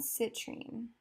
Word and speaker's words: citrine: this middle color right here this is in citrine citrine yeah yeah that's how you say it